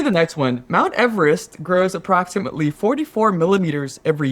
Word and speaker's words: Everest: Number 5 is that we are pronouncing Mount Everest incorrectly. So it was George Everest that I guess was named after in 1841. This is according to the site. Everest, not Everest. Everest.